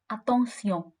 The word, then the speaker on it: attention: The next phrase we're going to learn today is be careful, which in French is pronounced as attention.